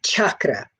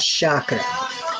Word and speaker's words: chakra: So the correct pronunciation is chakra with a hard CH and not chakra.